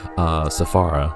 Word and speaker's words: Safara: Safara is how you say her name.